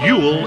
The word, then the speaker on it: Ewell: If you'd like to drop us a line, it's Radioactivity, 58 Cortlands Drive, Ewell in Surrey. That's Radioactivity, 58 Cortlands Drive, Ewell in Surrey. Ewell is spelled E-W-E-L-L, by the way.